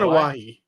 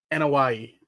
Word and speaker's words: Anoa'i: Anawahi. Anoa'i. Thank you. Don't get mad. Why are you yelling at me? I'm sorry I can't pronounce a fucked up name. Anoa'i. How do I say it? Anawahi.